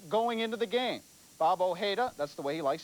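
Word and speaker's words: Ojeda: his season total going into the game bab OA that's the way he likes his name pronounced now lasted six innings for his third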